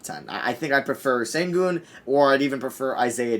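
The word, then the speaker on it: Şengün: are saying i just figured out how to pronounce it it's sengu and upper and sengun they're at nine over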